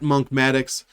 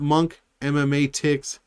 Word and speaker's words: Monkmatics: It's not Monk MMA Ticks. It's not Monk Manalytics, although that's a pretty good name, Monk Manalytics. It's Monkmatics, like mathematics, but I'm Monk, so it's Monkmatics.